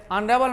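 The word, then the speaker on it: honourable: आप देखते हैं हॉर्स, ए हॉर्स, ये आवा में एच साइलेंट है, आवरली में एच साइलेंट है, ऑनेस्ट में एच साइलेंट है, ऑनरेबल में एच साइलेंट है, एयर में एच साइलेंट है।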